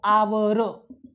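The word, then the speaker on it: hour: उच्चार करून बघूयात तर उच्चार होतो मित्रांनो आवर ओके म्हणजेच काय तर एच या ठिकाणी सायलेंट राहतं एच चा उच्चार होत नाही मग भलेही स्पेलिंगची सुरुवात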